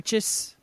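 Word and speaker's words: précis: it's a piece of I can never pronounce that word I think it's pre prees prees yes oh my god of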